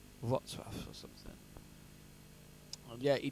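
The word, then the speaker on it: Wrocław: It looks like Rock Low, but it's pronounced Watswaf. Watswaf or something.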